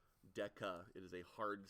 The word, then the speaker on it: deca: Rec this is called Deca Deca okay not Desa Deca it is a hard C and that represents